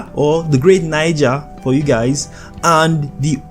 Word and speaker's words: Niger: is speaking of but the accurate pronunciation of this word is Niger guys okay I will